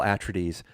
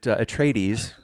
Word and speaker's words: Atreides: said attradies so i always think of them as paul attradis but atreides and the planet ericus which i used to call ericus but now it's called arrakis but you know reading